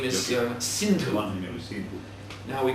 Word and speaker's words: Sindhu: they came to this Sindhu River. And in their language, they pronounced S with the H sound. So they called this river the Hindu River instead of the Sindhu River.